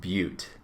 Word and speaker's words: butte: you say that looks like butt t it's pronounced butte is known as a butte mesas and buttes are both common landforms in